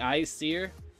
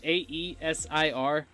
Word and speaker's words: Aesir: in the the icier its AE s ir I actually thought you pronounced that the Aesir because I was like dude you could have like a nerd line seemed like the BC and thus easier but it's the icier so if they had